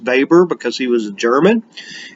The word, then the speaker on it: Weber: It's Weber, but it's pronounced Weber because he was a German.